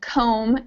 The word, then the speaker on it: comb: t is silent and in comb the B is silent climb is another one